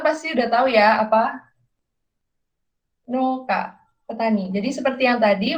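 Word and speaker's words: 農家: Nah, ini teman-teman pasti udah tahu ya apa Noka, petani. Jadi seperti yang tadi, walaupun tulisannya Keisatsukan, kita bacanya panjang, Keisatsuka gitu. Nah, ini juga gitu. Tulisannya no uka, tapi kita bacanya tetap panjang, Noka.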